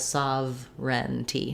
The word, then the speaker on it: sovereignty: so you can see even though it's looks like sauver and t it just has saav ren t no sound between the v and the r sound so that can be